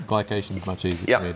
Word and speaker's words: glycation: uh glucos glucos ification glucos or gation G glycation is much easier for me to say where